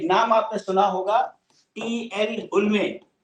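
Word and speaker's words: Hulme: उल्मे. उल्म कहते हैं, H silent होता है, या कैसे भी कह लीजिए.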